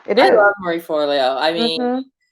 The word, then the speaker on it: Forleo: If this, so Marley Furlow. I'm saying her name wrong, but she is, Oh, Marie yes, Forleo. Marie Furlow said, and I know I said her name wrong again.